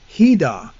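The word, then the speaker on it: חידה: Now the phrase dark saying is just one word in Hebrew pronounced hidah.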